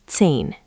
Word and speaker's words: zehn: 10 is zehn, 10. Again, German z is ts, so it starts like zehn. Zehn. Add the ts at the start, zehn.